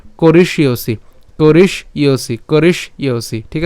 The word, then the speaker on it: করিষ্যসি: আমরা এখানে করিষ্যসি উচ্চারণ যেটা করছি, আমরা এখানে মূর্ধন্য স পর্যন্ত নিয়ে আসবো করিস এবং জফলার জন্য হচ্ছে ইয়। তাহলে উচ্চারণটা কেমন হবে, ইয়সি, ঠিক আছে, করিষ্যসি, করিস ইয়সি, করিস ইয়সি, ঠিক আছে।